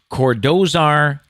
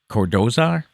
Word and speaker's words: Cordozar: fact today is snoop dogg's real name is cordozar calvin brodis jr i like how they threw